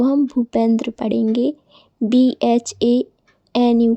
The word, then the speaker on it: भूपेंद्र: तो दोस्तों, जब बी के बाद H आए तो हम उसका उच्चारण भा करते हैं। जैसे कहीं भी आपको BH दिखे तो उसको हम भा पढ़ेंगे। जैसे कि BHUSHAN, इसको हम भूषण पढ़ेंगे।